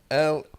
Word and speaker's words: Lehrer: Lehrer, like the German word for teacher.